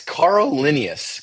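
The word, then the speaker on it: Carl Linnaeus: It's Carl Linius.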